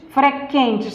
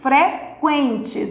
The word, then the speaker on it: frequentes: Ó, você não diz frequentes, você diz frequentes. Então, ó, esse U é pronunciado.